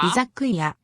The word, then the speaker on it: Izakaya: Izakaya. Izakuya.